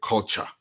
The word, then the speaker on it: Kulcha: Download Radio Culture. Radio Culture. Culture is spelled Kulcha, as you can see up here.